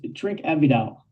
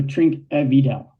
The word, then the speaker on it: Trinquevedel: How do we pronounce the name of our Tvel producer today? It's Trink Avidal. So, Trink evidel and we're tasting the 2021 which um